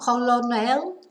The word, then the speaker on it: colonel: This is totally pronounced differently to how it looks. Colonel. So not colonel, colonel, colonel.